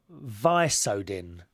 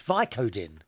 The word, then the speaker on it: Vicodin: well now you remember we were talking about vice odin which is some sort of drug i can't